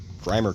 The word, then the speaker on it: Grimer: should be pretty easy grimer kinda rhymes with Fiverr so maybe Fiverr should